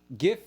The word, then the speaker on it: GIF: See, GIF is blue light. If you're talking about the graphics thing, but if you try to pronounce it GIF, this is what you get. You get the red light.